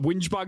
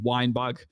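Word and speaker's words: Whingebag: So whinge bag is like British slang, and it just means someone that complains a lot, which is true. I am a whinge bag, 100%. But yeah, a lot of people struggled to pronounce it. It was coming back with wine bag. I think one guy actually called me at one point, which was interesting.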